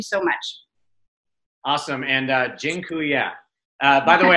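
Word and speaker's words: dziękuję: much awesome and uh jinu Ya by the way I just taught you all the Polish word for thank you it's jinya that I'm not goingon to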